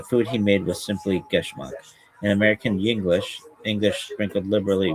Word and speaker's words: Geschmack: If your nephew Geschmack, pronounced Geschmack, is a Yiddish word that means delicious, pleasurable, fun.